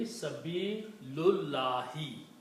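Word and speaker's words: سبيل الله: Now you have to read them together and don't pronounce this alif. So it will be Sabilullahi.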